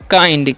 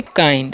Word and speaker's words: kind: यहाँ पर भी जो है आई का उच्चारण सभी में आई होगा, ठीक है। तो इसे हम पढ़ेंगे काइंड। क्या पढ़ेंगे जी? काइंड, okay.